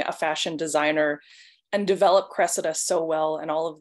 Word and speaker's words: Cressida: I was reading more into the book and Cressida. Is that how you pronounce her name?